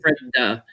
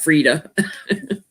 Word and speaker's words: Freda: So you see me when I type it in chat, I type her name FRED-DA to remind me to pronounce it Freda, not Frida.